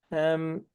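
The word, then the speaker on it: ه: Bu he'yi telaffuzda ha ile karıştırmamamız lazım.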